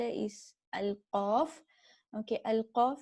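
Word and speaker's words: القاف: Okay, Al-Qaf is a heavy letter, and we need to pronounce it heavily. Okay, it is articulated where the deepest part of the back tongue touches the upper soft palate.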